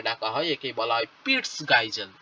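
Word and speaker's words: Peitschgeissel: ঠিক আছে, অ্যাক্রোনিমাটিক ফ্ল্যাজেলা, বা একেই আরেকটা নামে ডাকা হয়, একেই বলা হয় পিটস গাইজেল। কি বলা হয়? পিটস গাইজেল। পিইআইটি। ঠিক আছে, পিইআইটি ভালো করে বানানটা দেখবে, পিইআইটি সিএইচ জিইআইএসিএল।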